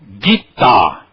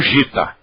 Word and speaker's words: Gita: J depois o g o g não importa que letra venha depois do G ele é sempre gutural ele é sempre G então Ali você vai sempre pronunciar guita e não Gita al você sabe que